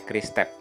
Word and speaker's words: QRIS Tap: Nah, dibacanya Kris Tep.